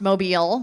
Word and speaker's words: Mobile: in a town that I know is is pronounced Mobile near Mobile uh at page and Palette and this past